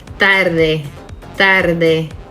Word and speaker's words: tarde: it with tarde tarde see how the tongue comes through the teeth both times if i were to use the english pronunciation of t and d would sound more like tarde tarde tarde now you don't see my tongue at all tarde tarde practice with